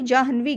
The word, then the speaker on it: जाह्नवी: ठीक है, जब आप इसको प्रोनाउंस करोगे तो क्लियर हो जाएगा कि ना पहले नहीं पड़ेगा, बल्कि पहले किसका उच्चारण आना चाहिए, हा का होना चाहिए, फिर ये होता है जाह्नवी।